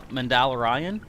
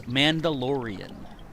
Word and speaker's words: Mandalorian: if I don't Glide how do you say uh mandala Ryan it's Mandalorian I know I just confused Everybody by saying it two different ways but yeah the actual way to say it is Mandalorian of course